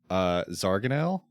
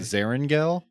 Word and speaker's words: Zarangel: also a free Patreon, we were pronouncing Zarganel in We Be okay. Goblins wrong the whole time. Oh, It's okay. Zarangel, Oh, boy. Zarangel.